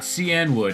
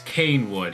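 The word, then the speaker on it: Cianwood: I pronounced CN would oh sorry how I pronounce it correctly I should say people get people tell me um it's not CN wood it's it's cane wood it's like you idiot it's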